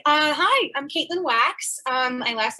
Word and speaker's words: Wachs: Hi, I'm Caitlin Wachs. My last name is a weird one. It's an Austrian, German, Jewish thing. So it's Wachs, but it's pronounced like wax your back.